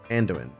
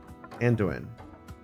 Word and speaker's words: Anduin: Or are you saying that even the two of you together can't catch Andoin? It's okay, I hate this name too. Anduin. So the A is silent.